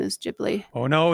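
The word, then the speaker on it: Ghibli: beautiful um we have juice saying is it pronounced jibli or gibli um and it is actually uh jibli because um so if I read for instance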